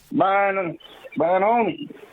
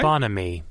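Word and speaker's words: bonhomie: in the English dictionary okay bonamy bonamy he was saying it wrong he was saying it like it was like snowman yeah yeah yeah bonom uh so bonamy is what it is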